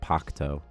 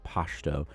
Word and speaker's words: Pashto: But like Pashto is actually like Pakto, something like that. But in Kandahar, they pronounce that noise, like the noise, as like sh, which makes it very easy for English speakers because you say Pashto instead of Pakto.